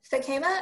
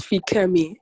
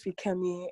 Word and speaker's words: Fikemi: Fakema, and if I'm mispronouncing your name, please correct me. That's fine. It's Fikemi. Fakemi. Okay. Thank you. Oh, no problem. So my name is Fikemi.